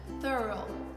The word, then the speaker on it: thorough: E uma dicasinha na pronúncia, divide em dois. Thorough, thorough, thorough. E a tônica tá nesse th, tudo bem? Não vai falar thorough, tudo Não. bem? O foco é no começo.